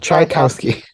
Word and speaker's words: Tchaikovsky: of it this way, like chai as in chai tea, cow as in Tri-T, the animal, Cow, chai cow ski, like the sport. Trikowski, Yeah, Trikowski, Tchaikovsky, even though it's spelled Trikowski.